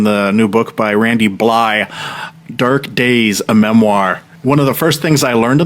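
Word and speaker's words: Blythe: Randy it's Bllye like fly. I was like okay Randy Bllye. It's like Captain Blie. The second half of his last name is silent. Yeah. He said the th is silent.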